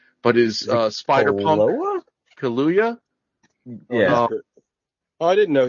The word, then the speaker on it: Kaluuya: They love Daniel Kaluuya. I can never say his name right, but his Spider-Punk Loa? Kaluuya.